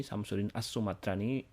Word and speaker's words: Syamsuddin as-Sumatrani: atau Hamzah Al Fansuri Syamsuddin Sumatrani Syamsuddin as-sumatrani pelafalan bahasa Arabnya dan yang ketiga adalah